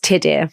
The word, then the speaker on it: Tudur: Joseph's first name is a Welsh name pronounced Tudur, which is spelled t u d u r.